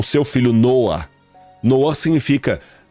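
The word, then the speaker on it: נֹחַ: Até a pronúncia, Noah.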